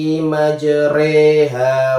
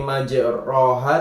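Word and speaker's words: مجريها: Waqarabu fiha bismillahi majriha wa mursaha. Bukan dibaca bismillahi majroha, tapi diganti re.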